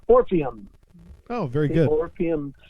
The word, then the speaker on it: Orpheum: I want to make sure I pronounce it right. Orpheum.